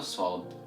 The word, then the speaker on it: ص: Alright, to pronounce the letter Sod, you need to take care and focus on where your whole tongue is moving. And when I say the whole tongue, I mean the tip of the tongue and the back end of the tongue. So the tip of the tongue should be moving downwards, right behind the lower front teeth without touching it.